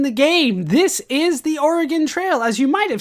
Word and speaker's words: Oregon: First off, Oregon, not Oregon. Oregon seems to be an Eastern United States pronunciation, an East Coast thing, but we here pronounce it Oregon.